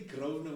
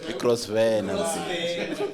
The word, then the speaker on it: Grosvenor: So when you say Grosvenor, which is the correct pronunciation, and like no Crossvan.